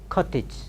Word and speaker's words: cottage: very awfully used to words very often ly mispronounced over salsa so College say Sanskrit College arts college University College okay then cottage cottage then managed it's very difficult to manage